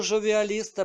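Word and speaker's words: jovialistes: неперекладеним виявилося що типографи помилково набрали першу літеру Л замість латинської йот яка у французькій мові читається як ж а слово жовіалісти перекладається як оптиміст що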